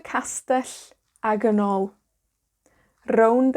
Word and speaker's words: rownd: Now you might have noticed that rownd has a r, right? So we roll our r's in Welsh. If you can roll your r's, da iawn, great, you know, use them. But if you can't, don't worry. A lot of Welsh people can't roll their r's either.